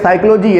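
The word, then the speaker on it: psychology: जैसे उन्होंने कहा कि कुछ साइलेंट होते हैं, साइकोलॉजी है, साइकोलॉजी में क्या किससे आता है, PSY, और आवाज़ कैसी आ रही है, S।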